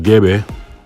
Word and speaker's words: Gbe: um the GBE languag is pronounced GBE from a cluster of